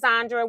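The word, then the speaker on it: Zendra: got a cousin named zondra with uh z-e-n-d-r-a uh and it's pronounced exactly the same uh I had some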